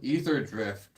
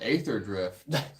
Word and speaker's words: Aetherdrift: knows it is the pre-release weekend for ether drift or as the uncultured of us call it ather drift so I appreciate the